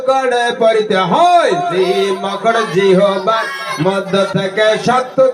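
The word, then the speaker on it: ج: সম্মানিত হাজিরিন, এরপরে আসি জিম অক্ষর। কি অক্ষর? জিম অক্ষর। ওই জিম অক্ষর জিহ্বার মধ্য থেকে কেমন করে পড়তে হয়? জিম অক্ষর জিহ্বার মাঝখান থেকে শক্ত করে পড়তে হয়। জিম অক্ষর জিহ্বার মধ্য থেকে শক্ত করে পড়তে হয়।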